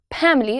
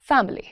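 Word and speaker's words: family: इट्स नॉट फैमिली। इट्स फैमिली।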